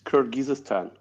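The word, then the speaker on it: Kyrgyzstan: getting across a bit CRI how do you pronounce that what is it it's kirgisistan kirgisistan yeah so kirgisistan there always there always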